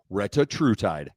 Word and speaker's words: Retatrutide: Retatrutide.